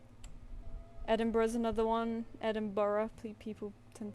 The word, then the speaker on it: Edinburgh: Edinburgh. You know, Edinburgh is how you pronounce it.